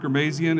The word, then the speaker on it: Ghermezian: so Mark, it's Mark Ghermezian. It rhymes with amazing, so you can think about it that way.